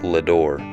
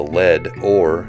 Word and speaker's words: Leadore: And since the reason the town even has its name is because of the lead ore that was mined in its foothills back